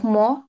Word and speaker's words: mon: pour Pour mon, মন না ম pour mon হতাশ। retard. হতাশ Retard. হতাশ মানে হচ্ছে লেট। মানে আমার Retard. দেরি হওয়ার জন্য আমি দুঃখিত। Je suis désolé pour mon retard.